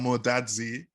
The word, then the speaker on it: Amo-Dadzie: mine so i have to say eugene i'm more dadsy am i pronouncing that right yeah that was good that